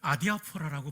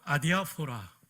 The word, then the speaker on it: 아디아포라: 주니까 저에게 이런 유익이 오더라고요 이것을 기독교 윤리학에서는 아디아포라라고 불러요 한번 따라해 볼까요 아디아포라 내 아디아 소라인데요 헬라어로는 이렇게 씁니다 알파 델타